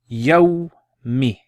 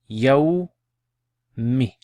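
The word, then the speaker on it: يَوْمِ: So we have fatha, sukun, and a kasra. So try pronouncing this then. Yawmi, yawmi, yawmi.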